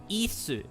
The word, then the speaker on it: Ys: as I say it yes because ye I don't know it's meant to be pronounced so it's ISU in Japanese so ye makes sense